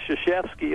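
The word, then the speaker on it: Krzyzewski: and finally you know he said hey it's shashki and everybody said what how do you get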